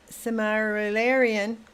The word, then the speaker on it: Silmarillion: Niles says the Silmarillion, I said it right the first time, would be difficult to properly make a show about, though, the way it is written.